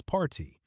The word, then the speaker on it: PARTI: I mean that thicker P A R T I like how should I pronounce it? Parti party. It's party. Like party without the Y sound at the end. Kind of rhymes with hearty.